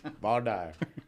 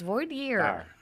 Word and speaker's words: voir dire: maybe in Louisiana they vaire you're saying it wrong it's vier well you know